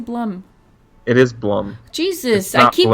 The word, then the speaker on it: Blum: It's Blum. Oh my god. I heard something on YouTube. I watched a video and it said Bloom, and then now it's stuck.